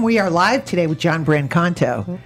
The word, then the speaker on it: Brancato: are live today with John Brancato John Brancato thank God though when he told me how to pronounce his name he said it with the very Italian accent so I thought I'd